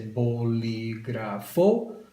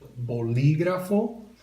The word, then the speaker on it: bolígrafo: So for example, do I say bolígrafo, bolígrafo, bolígrafo, or bolígrafo? You'd say bolígrafo. So I'm going to underline that syllable.